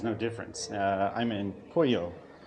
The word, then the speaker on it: Puyo: difference uh I'm in poo it's p yo but it's pronounced just like the name chicken in Spanish and this week I've